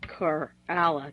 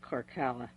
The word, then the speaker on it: Korala: And his name is actually Korala, K-O-R-A-L-A, not Korkola. There's not a double K in there.